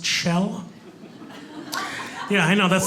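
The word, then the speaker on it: Kjell: babysit him here we go my name is chell it's norwegian spelled k-j-e-l-l pronounced shell yeah i know that's not even a joke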